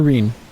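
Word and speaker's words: Ryne: Rhine. Or Reen. I guess, yeah, it's Reen. That's how you pronounce it.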